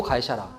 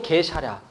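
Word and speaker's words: 가이사랴: 빌립보 가이사라. 근데 예전에 우리 초창기에 우리나라에 성경이 들어왔을 때는 이 가이사라가 번역되어질 때 이게 일본어로 가이가 개라고 발견되거든요. 그래서 어떻게 발음했냐면 빌립보 게사랴.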